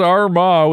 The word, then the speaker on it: Armagh: That's just a place Armagh is pronounced Armagh with the emphasis.